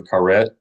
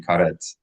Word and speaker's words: karet: read a Hebrew transliteration, let's make sure to pronounce the last letter. In English, we have a habit of not pronouncing T's at the end of words as a T, but in Hebrew we need to. So instead of karet, it's going to be karet.